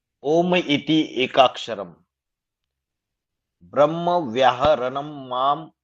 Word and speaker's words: ओम: माना ओम ये 3 अक्षरों से बना हुआ है, आ उ म, ब्रह्मा विष्णु और महेश।